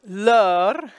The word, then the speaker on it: leur: The E-U-R spelling opens it up. You have a sounded consonant. It's in the interior of the word. The S is silent, nothing after it to create a liaison. So, leur.